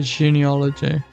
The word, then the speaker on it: genealogy: uh ganal genal genal okay how do you pronounce it okay genealogy okay I've been up that